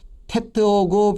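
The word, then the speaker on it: טית: 테트하고 비슷한 게 이제 이 맨 끝에 자가 타우라는 게 있어요. 타우. 요거는 둘 다 트자 발음인데 T 발음인데 요 테트는 요거보다 좀 강하게 발음을 해줍니다.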